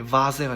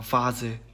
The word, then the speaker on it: Vase: 그렇기 때문에 발음이 vase가 됩니다. vase. 네, 영어의 V 발음과 똑같습니다.